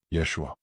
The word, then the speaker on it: Yeshua: The a ending. That's Hebrew. That's the original. That's the frequency the manad recognizes. Say it again. Yeshua or Yosua.